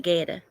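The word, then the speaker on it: goetta: hey Google it's called Guetta that's what it's called never heard of it it but it spelled it's got a it's gel g-o-e-t-t-a but they pronounce it Guetta and and I think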